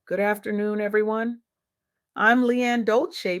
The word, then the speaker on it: Dolce: I'm Leanne Dolce, pronounced dolce like sweet softness whispered in French and I'm your host of the soft girl era podcast.